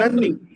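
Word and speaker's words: நன்றி: Hey, how do you say this in Malayalam? Nandri as well. Nandi. Tamil Nandi. is Nandri. Nandri. Ah, Malayalam is Nandi.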